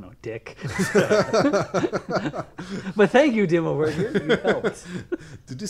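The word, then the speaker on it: Dimmu Borgir: But thank you, Dimmu Burger. You helped. Did you say call him Dimmu Burger? Dimmu Burger.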